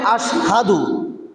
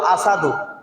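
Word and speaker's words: أشهد: উচ্চারণ করতে পারতো না শব্দটা হবে আশহাদু বেলাল বলতো আসাদু বেলাল কি বলতো আসাদু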